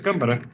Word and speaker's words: Cámara: Sí, así se pronuncia su apellido, ¿verdad? Cámara. Sí, sí, es Cámara.